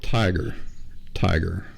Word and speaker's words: Tyger: It's called Tiger. Let's see. It's called The Tiger, and tiger is spelled Tyger.